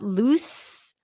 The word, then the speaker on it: loose: the screws is loose the pronunciation here is is L ooh so it's the same beginning and then s loose loose the screws are loose